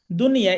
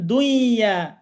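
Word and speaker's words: دنيا: তো এটা হচ্ছে আরবি ভাষা, আরবি শব্দ দুনিয়া। এটা যদি ইদগম আপনি করেন তাহলে দুনিয়া হয়ে যায় কেমন দেখেন, দুইয়া। তাহলে আর দুনিয়া থাকবে? থাকবে না, না দুনিয়াটা উল্টে যাচ্ছে।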